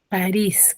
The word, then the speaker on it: París: ¿Cuántas sílabas tiene? Dos. Dos sílabas. ¿Cuál es su sílaba ¿Cuál tónica? es su sílaba tónica? París. Es aguda. No, primero, ¿cuál es su sílaba ¿Cuál tónica? es su sílaba tónica? Disculpe, profesora. En París, ¿cuál es la sílaba tónica? Me dices tú, Riz. tiene dos sílabas. En Riz. En Riz. En Riz. ¿Y qué tipo de palabra es? ¿Es? Aguda. Es aguda.